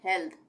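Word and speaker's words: health: उसी तरह से हेल्थ, हेल्थ, यहाँ पे भी थ का उच्चारण हो रहा है, हेल्थ।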